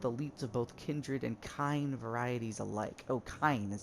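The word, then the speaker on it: kine: comes from kindred and kind just remember that kind rhymes with swine and you'll get the picture oh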